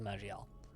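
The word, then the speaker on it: Maj'Eyal: game yes i think i think it's actually just pronounced tales of magiel i'm pretty sure that's how you're supposed to pronounce it i don't know if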